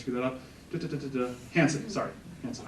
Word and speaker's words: Hansen: I've been saying it wrong myself the whole time, I apologize. Andy will fix that in post, I'm sure. Don't worry, Andy, you don't have to. Thomas Nelson, it's actually Hansen.